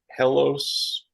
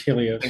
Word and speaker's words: Helios: it is a Acer hos I'll say it wrong laptop Predator La hos what ever helos h e IO helos it's Helios you whatever yeah I